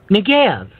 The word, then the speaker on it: Negev: God said Negev. That's how you pronounce, that's how you see it in the news articles, is the Negev.